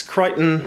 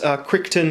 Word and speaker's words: Crichton: into science fiction and yes it's Crichton's not quick turn or Christian or however else it gets mispronounced steer holds up pretty